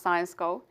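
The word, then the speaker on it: Syensqo: go couple of words it's pronounced science go it's a Specialty Chemicals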